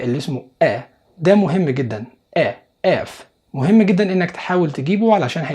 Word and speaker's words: F: الحروف اللي أولها ناس كتير بتنطقها غلط، زي مثلا الحرف ده اسمه اف. ما تقولش if. لو قلت if فانت قصدك الكلمة دي، انما الحرف اسمه f.